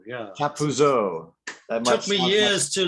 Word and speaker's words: Chappuzeau: Welcome, Simon Chappuzeau. I'm not Thank French. you. I have a hard time with your name, but Chappuzeau, yeah. Chappuzeau.